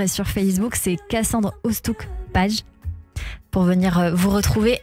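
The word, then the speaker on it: Oosthoek: Ostouk. Ostouk. Voilà. Alors ça s'écrit sur YouTube Cassandre Ostouk, O-O-S-T-H-O-E-K.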